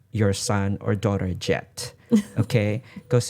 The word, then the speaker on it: Jhett: But it's spelled Jhett.